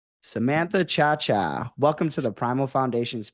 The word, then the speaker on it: Ciaccia: good thank you and you pronounced my name correctly chaa I'm sure I'm sure you get a lot of different um pronunciations yeah I would say the the worst was sriracha and it was the um